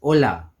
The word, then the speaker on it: hola: The first is hola. Remember, in Espanol, the H is silent.